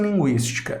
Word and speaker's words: Linguística: Olha só o que acontece em linguística. A gente tem o L, o IN é um dígrafo, o G, o U, a gente pronuncia o U, né?